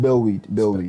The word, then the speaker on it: Bellwade: Bellweed. Spell it.